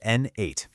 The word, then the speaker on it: n8n: First off, it's pronounced N8, and it's a super powerful workflow automation tool.